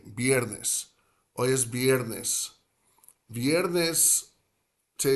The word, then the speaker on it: viernes: So, getting back to viernes, I happen to do the slightly, let's grip the lower lip with the top teeth, V, like Valentino, Valentina. So I would say viernes, viernes. But some of my buddies, they'll say viernes like a B, like pushing the sound out, sort of in an equilibrium fashion from like both top and bottom of the mouth, and not bringing the lip and the teeth together. They'll just say viernes.